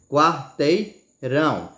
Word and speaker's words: quarteirão: Quarteirão, mesmo que você não bote força, certo? Mas ela é a sílaba mais forte, você pode notar. Fale sílaba por sílaba, vamos lá. Quarteirão. Você vê que ela é a sílaba mais forte, não é a que tem mais tom, é a que você entona mais, que fala com mais força, certo?